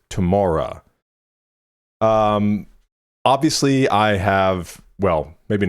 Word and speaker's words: TOMORA: Today, we are getting into, I'm assuming it's pronounced TOMORA, because this is Aurora and Tom Rowlands from the Chemical Brothers, their project together. So Aurora and Tom, I'm assuming is TOMORA.